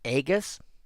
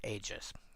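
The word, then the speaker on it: aegis: so that being said, if you ever hear me say agus, this is the word I'm talking about." Most people will probably pronounce it ages. It feels wrong to me because of the spelling and the origin.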